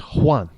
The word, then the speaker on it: Juan: your name might be Juan but if you're coming from South of the Border it's Juan Juan with a W it's Juan because a j is not it's Juan so I'm